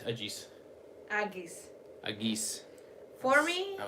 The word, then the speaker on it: Agis: A-G-I-S. What did I say? Aegis? It's not Aegis. Aegis. It'd be Agis. Agis.